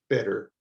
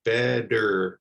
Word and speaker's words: better: next our word is better so you can see that that t even in the double t form is making like a d sound better better better you don't